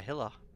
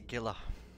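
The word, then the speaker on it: Gila: the Scythe no and it's also a Gilla not a Hiller we can end that it's not it's a Giller just just like my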